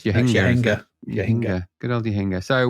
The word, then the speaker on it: Jahangir: I thought it was Jahangir, but it's Jahangir.